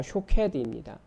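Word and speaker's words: שׁוֹקֵד: 그런데 그 발음이 샤케드입니다. 그리고 선지자가 그 하나님께서 말씀을 지키겠다 하신 것을 지키겠다 그렇게 말씀하신 그 단어 지키다라고 하는 단어가 쇼케드입니다. 그러니까 발음이 비슷하잖아요.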